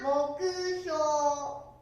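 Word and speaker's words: 目標: 発音は目標。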